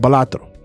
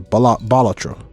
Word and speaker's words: Balatro: half the fun of Balatro or Bal Bolatro. I speak Spanish, so I like to say Balatro. I think the creator said that you can pronounce it however you want.